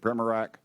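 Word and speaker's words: Primorac: What is it, Primorak?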